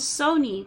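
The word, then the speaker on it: Sohni: talked about this tiger her name is Sony but not spelled like the company it's spelled s-o-h-n-i um and I was so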